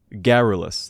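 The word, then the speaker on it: garrulous: It is garulus. Hold on, let me just Geralus. That's how you say it.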